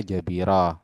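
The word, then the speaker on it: جبيرة: Lafadz jabair itu adalah jamak dari kata jabirah, berarti mufradnya jabirah. Terus cara bacanya bagaimana? Bifathil jimi, dia itu fathah jimnya ya.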